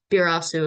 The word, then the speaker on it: Barasu: Uh, Virus is like its English name, but I think yeah, the Birasu is like his Japanese name. Okay, so when I said it earlier, I said it wrong.